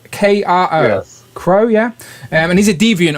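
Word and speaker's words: Kro: crow oh my plan announcing that wrong k-r-o crow yeah and he's a deviant i assume rush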